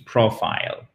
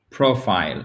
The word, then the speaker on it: profile: exemple, to live, L-I-V-E, ou comme un I, comme dans life. Donc ça, vous l'apprenez petit à petit. Profile. Nicole, vas-y. Profile. Once again, please. Profile. Profile, exactly.